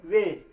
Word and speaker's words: wedge: पे क्या हुआ है, जी से पहले डी आया है। अब यहाँ पे डी भी क्या है, साइलेंट है। अब इसको हम क्या पढ़ेंगे, वेज पढ़ेंगे। क्या पढ़ेंगे, वेज। अगर वैसे अगर डी पढ़ना होता तो वेज पढ़ते, लेकिन यहाँ पे हम वेज पढ़ेंगे।